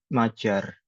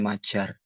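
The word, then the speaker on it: Magyar: Maria bahasanya bahasa Hungaria namanya Majar. Magiar tulisannya Magiar tapi bacanya Majar di sini.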